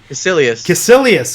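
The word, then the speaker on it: Kaecilius: Do you remember how they pronounce the villain's name? Caecilius.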